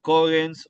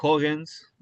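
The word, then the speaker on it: cogens: Los conceptos de Kogens o Hogens, dependiendo cómo se lo pronuncie, digamos, es una es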